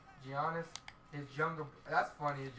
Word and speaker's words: Giannis: The Greek freak, Giannis. Giannis.